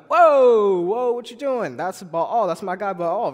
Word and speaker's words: Baal: So shortly after, the Lord told Gideon to destroy the altar of Baal. Is that how you say it? Baal?